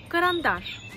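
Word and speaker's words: карандаш: Dans ce mot, il y a 0 voyelle O. Parce que les voyelles A, avec ou sans l'accent tonique, ça reste toujours A.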